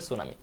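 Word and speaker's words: tsunami: এম আই সুনামি মানে টি টা হচ্ছে সাইলেন্ট লেটার এটা উচ্চারণ করা যাবে না বাকিটুকু উচ্চারণ করতে হবে সুনামি তো যেহেতু এটা ইংলিশের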